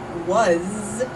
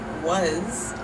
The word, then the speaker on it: was: in English were like was was I was going to the store I was was even though we write it with an s in English we pronounced that with a z and I think this